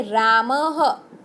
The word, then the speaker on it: रामः: शब्द के बाजू में, जैसे कि रामः, तो उसको ह के साथ उच्चारण करना है।